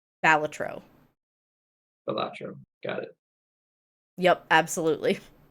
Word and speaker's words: Balatro: So it is actually pronounced Balatro, and I'm probably going to get it wrong every single time. It's a poker roguelike. Balatro. Balatro.